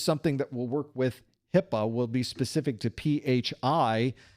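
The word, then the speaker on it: HIPAA: Accountability Act of 1996, which we call HIPPA, even though it's not spelled HIPPA. It's it's spelled hip, but we don't call it hip because that would be weird. Instead, we call it HIPPA, which is a much better way to say it, but not a very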